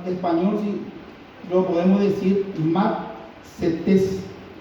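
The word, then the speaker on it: μαθητής: si lo podemos decir, matsetes, M-A, para los que están anotando, D-S-E, matse, y T-E-S con acento en la última E, matsetes.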